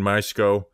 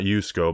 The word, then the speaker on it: Misko: Ryan Misko, not Yusko, Misko.